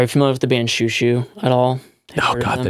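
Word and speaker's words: Xiu Xiu: I am going to say, are you familiar with the band Shoo Shoo at all? Oh God, the name sounds so familiar. It's spelled Xiu.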